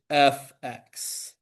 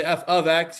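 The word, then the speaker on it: f_x: You don't say f ofx. You don't say anything between the f and the x. It is fx. That is the correct way to say that.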